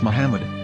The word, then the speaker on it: Muhammad: Ben yehuda's Hebrew English dictionary it is correctly pronounced as Muhammad not mammad so how we're going to know